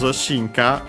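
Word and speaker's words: 進化: Because shinka is a Chinese compound, accent on the first mora, yes, it is.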